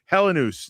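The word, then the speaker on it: Helenius: The 3-syllable pronunciation of his last name now. The 4-syllable pronunciation's out, I guess. We're Hellenus now.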